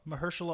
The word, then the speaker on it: Mahershala: Mahershala Ali.